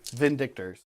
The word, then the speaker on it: Vindictors: Vindictors. Yeah. I like the emphasis on the second syllable.